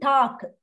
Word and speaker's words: Tag: it is see when whenever it is G comes end of the word you to pronounce like K good and talk K pronunciation you have